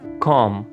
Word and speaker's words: comb: comb, comb, comb इसमें बी को pronounce नहीं करना, कंघी।